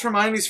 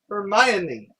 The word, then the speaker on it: Hermione: course hermione granger being black thing could you pronounce hermione's first name again ramona granger not the granger that's her elastic just her first name hermione hermione it's a fictional character she can pronounce it